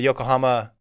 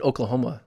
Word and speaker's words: Yokohama: Bermuda Grand Prix we'll talk about uh the Yokohama Continental tour because we had Fred Curley in it mostly talk about Fred Curley I thought I said Oklahoma no Yokohama oh okay might don't pronounce that